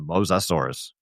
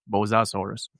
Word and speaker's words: Mosasaurus: And if you want to hear what it's actually pronounced as in the video, it's the Mosasaurus. Mosasaurus.